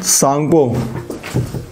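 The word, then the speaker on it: Tsangpo: हाँ ये वाला मैप देखो, यहाँ पे इसका नाम है सांगपो, ठीक है, तसंगपू बोलते हैं इसको, सांगपू बोलते हैं, लेकिन स्पेलिंग टी से स्टार्ट होती है।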